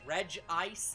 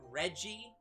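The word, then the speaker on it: Regice: official pronunciation is unknown the official pronunciation is reg ice even though all the rest of them are reggie which doesn't make any sense which they then broke again but they still called it reggie so that part's fine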